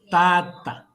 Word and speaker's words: tata: Se ou tata. Se ou tata. Vê a pronúncia. Tata. Tata. Se.